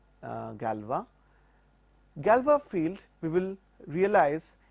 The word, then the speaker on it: Galois: This is named after a French scientist Galois, hence the pronunciation Galois.